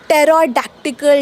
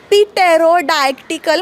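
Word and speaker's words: pterodactyl: all right रू number three जेव्हा पी आणिटी एकत्र येतात तेव्हा सुद्धा पी सायलेंट एक्झाम्पल टेरोडक्टिकल डायनासोर तुम्ही जर याला पीटेरोडायक्टिकल म्हटलात तर तो डायनासोर परत जिवंत होऊन तुम्हाला खाऊन टाकेल त्यामुळे पुढच्या वेळी जेव्हा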